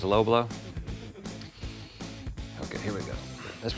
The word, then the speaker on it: Lo Bloo: And finally, the low blow. Should we tell the people at Low Blow that you wouldn't think that you pronounced that as low blow?